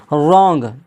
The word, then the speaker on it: wrong: तो वहाँ पर डब्लू क्या हो जाता है, साइलेंट हो जाता है। आंसर, आंसर नहीं पढ़ा जाएगा, क्या पढ़ा जाएगा, आंसर। रॉन्ग, WRONG, रॉन्ग, देखिए यहाँ पर भी क्या है,